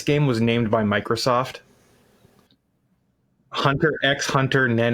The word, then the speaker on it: Hunter x Hunter: The X is silent, by the way. Hunter x Hunter.